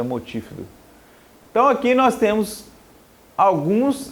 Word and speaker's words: multífido: Fala pronúncia é multífido.